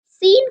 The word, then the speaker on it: س: This is seen. Kindly read after me. Seen. Seen comes from tip of the tongue, touches the front lower teeth to pronounce seen.